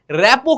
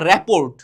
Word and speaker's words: রেপো: রেপো কি সেটা বোঝো না। এগুলো আগে বুঝা লাগবে। এখন তোমরা এইযে রেপো এটা তোমরা যদি যারা বোঝো না তোমরা বলবা রেপোর্ট। কিন্তু আসলে এটার উচ্চারণ রেপো।